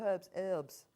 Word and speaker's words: herbs: in American is that they call herbs herbs I thought I listened to it once and I thought it was just somebody saying it wrong but apparently they all call them herbs herbs no herbs are herbs um isn't that lovely